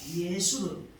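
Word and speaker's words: 여수룬: 여수론의 히브리 발음은 예수론입니다. 예수론. 이며 뜻은 사랑받은 자, 옳은 자, 정직한 자를 뜻합니다. 하나님께서는 이렇게 이스라엘들에게 애칭이 되는 여수론으로 불러주셨다는 것은 그야말로 가장 아름답고 복된 호칭이라고 할 수가 있습니다.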